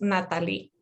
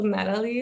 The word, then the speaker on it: Nathalie: Well, first, my name is Nathalie, but in Spanish, it is pronounced Nathalie, but that's a little hard to pronounce for some people, so Nathalie is fine.